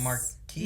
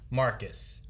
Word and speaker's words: Marcus: Is it Marquise? No, it has a Marcus. Q in it, so it always messes me up.